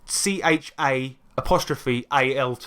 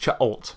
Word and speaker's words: Cha'alt: It's spelled CHA ALT. Yes. Cha'alt.